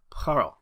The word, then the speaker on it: Poirot: It is pronounced Poirot.